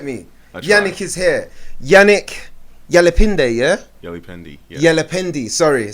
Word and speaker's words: Yalipende: Yannick Yalipende, yeah? Yalipende, yeah. Yalipende, sorry, I did this day thing. I know, it's all good. It could be day or in French it's Yalipende, in English Yalipende, so yeah.